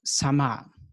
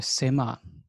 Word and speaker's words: sama: west it is the tradition of sama or sema in turkish pronunciation and sema means literally